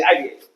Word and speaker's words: IIBA: We have make it the Latin way. Gotcha. Sorry. Okay. We always say IBA. No Indeed, when I started, I called it IVA.